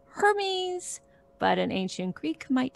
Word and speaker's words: Hermes: little bit what's a good um like um hermes would be the same pitch contour a sensei